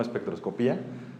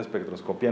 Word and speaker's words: espectroscopia: se llama espectroscopia bueno y se llama así no espectroscopía está mal pronunciada espectroscopia no tiene acento espectroscopia según la Academia Española espectroscopia y este y justamente